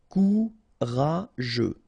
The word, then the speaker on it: courageux: Courageux, final X not pronounced. G-E-U together, they will give you this je, okay? Courageux, courageux.